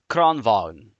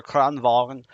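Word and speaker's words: Kranvagn: Um, the tier 10 medium, Kranvagen. Depends where you're from in Sweden. It's either Kranvagen or Kranvagen. Depends how you pronounce the G on it.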